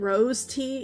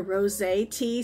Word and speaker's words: rosé: it was really good I think I mispronounced it I said rose tea it's actually a rosé tea so I'm going to